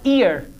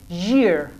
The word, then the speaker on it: year: people pronounce it as ear first year second year remember this is your ear this one is not ear you will pronounce it as year so this year your